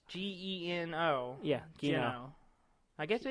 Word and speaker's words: Geno: But you got Gino and Mallow. Gino and Gino. I've never said it out loud. Gino. I've always pronounced Gino. It's Geno.